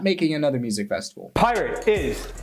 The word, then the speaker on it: Pyrt: exactly another Music Festival this Festival name is pirate but it's spelled p-y-r-t okay is Billy trying